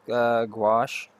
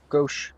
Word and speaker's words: gouache: Gouache. Am I saying that? Gouache. Gauche. Sorry, gauche. I always say it wrong. Gauche. It's gauche, gauche, gauche. Need to really learn how to say it correctly.